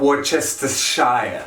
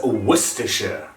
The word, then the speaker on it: Worcestershire: worcester not worchester and remember not worcestershire it is worcestershire kind of similar to your combi boiler worcester and then the sher at the end actually in hindsight this